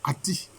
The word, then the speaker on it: Aton: Donc, en fait, la bonne prononciation, c'est Ati. Et on dit que c'est le disque solaire.